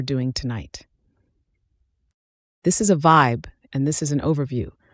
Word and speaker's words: VYB: Let's talk word terms The VB is pronounced vibe VB means visualize your